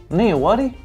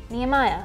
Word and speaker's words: Nehemiah: Nehawaddy? Nehemiah, from the Old Testament.